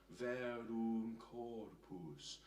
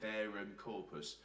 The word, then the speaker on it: Verum Corpus: So just to say the pronunciation here, Ave, Ave, Verum Corpus. And notice the sound, Verum Corpus. I want the lips pushed forward there, otherwise we'll get Verum Corpus, which isn't actually as nice a sound.